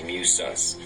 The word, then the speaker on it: Musus: and you know, so it looks like Muscus, but this is the pronunciation is Musus.